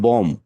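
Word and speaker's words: bombed: হ্যাঁ, কিন্তু দেখেন বম, বম একটা শব্দ, এটার সাথে যদি আমরা ইডি যুক্ত করি তাহলে পাস্ট টেন্স হবে এটা, তাহলে বিটা হুম। সাইলেন্ট হয়ে যে কি হবে, এম দিয়ে বোম। Be silent, বোম।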